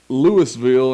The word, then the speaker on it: Louisville: And then when I lived in Mississippi, there was Lewisville instead of Louisville, but it spelled the same as Louisville.